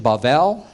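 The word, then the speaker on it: בבל: and here we have this word I mentioned bavel and it's transliterated as Babel in your English Bibles Babel is is the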